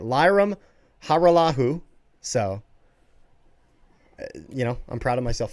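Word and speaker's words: Lirim Hajrullahu: That's right, Lyram Haralahu. So, I'm proud of myself for being able to pronounce that.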